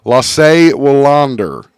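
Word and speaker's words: Lasse Wellander: Our first one is a brilliant musician, Lasse Wallander is how you say his name, an ABBA guitarist.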